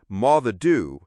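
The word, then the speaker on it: Moddey Dhoo: The Motty Doo, pronounced Maadoo, is a legendary black dog that haunts Peele Castle.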